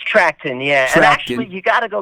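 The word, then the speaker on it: Trachten: later joined by doug i hope i can pronounce his name right trackton it's trackton yeah actually you gotta go back a little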